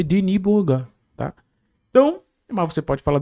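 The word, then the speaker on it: Denis Bouanga: nosso querido Thiago Manolo, porque o Deni Boangá é francês, né? E naturalizado, gabonês, então ele nasceu na França, então é Deni Boanga, tá?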